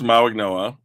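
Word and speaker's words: Mauigoa: So, you have Francis Ma Noah, who I've been told the G is pronounced like an N, which I don't pretend to understand, but fine, it's his name. Um Francis Maigno and Spencer Fano.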